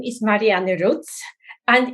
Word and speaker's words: Marianne: My name is Marianne Rutz, and it's actually pronounced Marianne the German way, kind of a bit of a giveaway, but I'm not German.